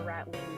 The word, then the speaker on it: Ratleen: Oh, like Colleen. But with rat.